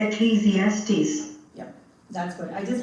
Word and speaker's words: Ecclesiastes: Ecclesiastes yep that's what I just wanted to kind of pronounce oops sorry let me go back a little bit so Ecclesiastes is the way you pronounce okay what is this book Ecclesiastes it's